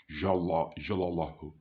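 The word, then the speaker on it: جل جلاله: That very name which appears in the work of art is a name which is pronounced Jalla, Jalallahu, or Jalla, Jalallahu. It depends how you do it, but it is Jalla, Jalallahu, or Jalla, Jalallahu.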